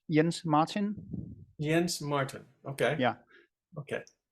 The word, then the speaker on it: Jens-Martin: name please my uh first name uh is pronounced yens Martin yens Martin okay yeah